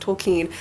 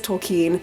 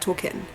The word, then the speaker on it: Tolkien: of this but he actually says that it's pronounced tokine and I understand that everybody's read those I